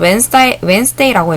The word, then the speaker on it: Wednesday: Wednesday라고 읽는다고 했죠. D 발음 없이.